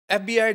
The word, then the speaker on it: FBI: word that is acronym FBI differs from other retina noms in this list because it's pronounced letter by letter we cannot say fee berry we say f-b-i so